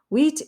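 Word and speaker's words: huit: the p in set wheat is pronounced just like the wheat that we grow out in the field and from which we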